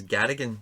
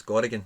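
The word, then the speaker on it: Gorriarán: I don't know why, but it kept coming up in mine as Garrigan, and I don't know why I had it spelled like that, but it's Gorrigan.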